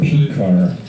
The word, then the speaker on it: Pekar: In English you say his name Pekar.